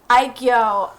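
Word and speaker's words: 애교: Aigyo. That's how you pronounce it.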